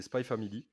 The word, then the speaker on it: Spy x Family: alors spy family donc apparemment prononce pas le X donc c'est spy family il y a les